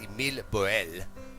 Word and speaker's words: Émile Borel: I believe his name is pronounced Émile Borel.